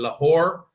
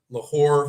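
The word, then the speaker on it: Lahore: I'm gonna be in lore yes that's how you say it lore for three days I'm going to a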